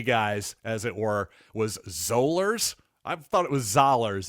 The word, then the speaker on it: Zollers: By the way, while I'm thinking of this, by the way, it is pronounced Matt Zollers.